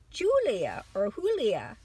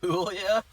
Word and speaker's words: Julia: The main characters in this first movie are Angelica Houston as Morticia, Raul Julia as Gomez. Julia? Yeah, that's, well, she's Spanish. That's what they don't pronounce their J's.